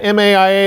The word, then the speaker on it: MAIA: Is it MAIA, M-A-I-A? Is that the way you pronounce it? Yes, MAIA.